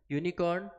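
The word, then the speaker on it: unicorn: यूनिकॉर्न जैसा मैंने अभी बताया, यू का उच्चारण क्या आ रहा है, यू का उच्चारण यू आ रहा है, तो यू उच्चारण आने के कारण यहाँ पे आर्टिकल हो जाएगा अ। क्यों, क्योंकि जो साउंड है हमारा वो हमारा कॉन्सोनेंट साउंड है।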